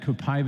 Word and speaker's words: Copaiba: Somebody reminded me that you said that Copaiba is supposed to be pronounced Copaiba. Well, it depends on what part of the world you're in.